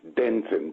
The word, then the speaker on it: Denton: you because I just correct the um pronunciation it's Denton D for David D I beg your pardon